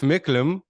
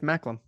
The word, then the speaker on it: Macklem: Tiff Micklem. Mm, Tiff McCallum. Tiff McCallum. How do you say his last name? Tiff Macklem.